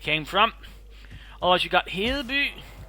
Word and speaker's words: Hedeby: Otherwise you got Hedeby, Ribe and Aarhus. I'm basically using the Danish names as they're supposed to be pronounced in Danish for them, by the way.